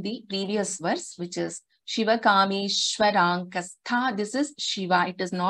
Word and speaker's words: Shiva: So it is not Siva. It should not be pronounced as Siva. It is Shiva only.